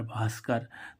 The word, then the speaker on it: भास्कर: उच्चारण भाव होता है जैसे बी एच ए आर ए T Bharat तो देखो यहां पर बी एच बी के बाद क्या आ रहा एच तो इसका मुख्य रूप से उच्चारण क्या हो रहा है भा ऐसे ही इसमें देखो